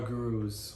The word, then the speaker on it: guru: Because one of our gurus once said, Guru is the correct pronunciation, once said, to quote Swami Sri Yukteswar Giri, that is my lineage.